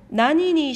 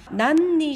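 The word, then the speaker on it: 何に: 뒤에 이렇게 니가 올 때는 난보다는 나니라고 읽는 것이 발음하기가 더 편합니다. 난니 시마스카라고 하지 않고 나니니 시마스카 이렇게 표현한 겁니다.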